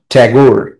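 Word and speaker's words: Tagore: এখানে বলছে রবীন্দ্রনাথ ট্যাগোর ইংরেজিতে উচ্চারণটা ঠাকুর হয় না।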